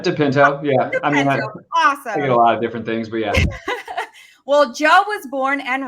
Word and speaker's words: De Pinto: my co-pilot today joe depento deep deep how do you how do you say that last name you got it dipinto well joe was born